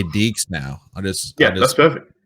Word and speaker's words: DEAXZ: Well, I usually just say DEAXZ now. That's perfect. Like, say DEAXZ, and I'll even spell it like if I'm adding you, I always just DEEKS.